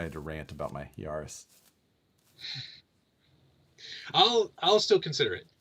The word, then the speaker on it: Yaris: had the mo five yaris or yaris in sierras here it's like paris uh and i was